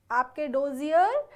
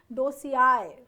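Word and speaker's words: dossier: आपका एसएससी में सिलेक्शन होता है, आप वेट करते हैं कि कब आपके डोजियर डिपार्टमेंट में आए, जिसको आप डोजियर बोलते हैं। सही प्रोनाउंसिएशन है डोसियाए, ठीक है।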